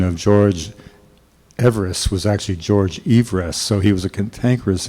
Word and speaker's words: Everest: Well, one of the funny things is that the actual pronunciation of George Everest was actually George Everest, so he was a cantankerous individual whose curse